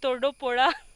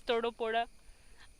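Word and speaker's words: Thodupuzha: right now I'm in Todo Pora it's so difficult to pronounce for me I used to but the pronunciation is totally different it's Todo poda Malayalam people they can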